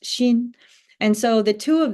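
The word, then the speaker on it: 心: And then the bottom half of the character for zhi is the character that means the heart, or pronounced xin.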